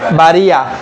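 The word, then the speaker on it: بارئ: তো উচ্চারণটা করবেন ইয়া এবং হামজার মাঝামাঝি, তখন কিরকম হবে? বারিয়া। মনে হচ্ছে ইয়া আছে হামজাও আছে, কিন্তু এখানে কিন্তু আপনি হামজা শুদ্ধ ইয়া শুদ্ধ হামজা মিলাই ফুটতেছেন।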